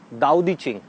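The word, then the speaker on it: 道德经: Name of this book is दाओ दी चिंग। हम इसको पढ़ते हैं तो इट इज ताओ, TAO, बट we pronounce it एज दाओ।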